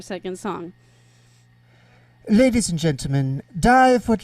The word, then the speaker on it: DYEV: Just to confirm for everybody in the chat, it's DYEV. Yes, DYEV. You got it. Like the DyeV. Like the DyeV, because Dye is our last name, and it's spelled DYE.